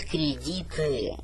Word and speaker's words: credit: Многие люди читают кредиты. Я сколько раз повторяю, кредит, ударение на первый слог.